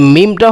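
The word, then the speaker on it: ميم: লাম তারপরে কি মিম মিম এ মিমটা হল দুই ঠোটের শুকনা অংশ ওইখান থেকে উচ্চারণ হবে যে দুইটা ঠোট আছে ওই দুইটা ঠোটের ওই শুকনা অংশ আছে যেখানে একটু জিহ্বা ঠোটের একটু শুকন অংশ ওখান থেকে উচ্চারণ হবে যেমন কি মিম মিম তারপরে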